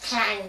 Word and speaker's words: Klang: But in Malaysia, we don't pronounce it as klang, you know.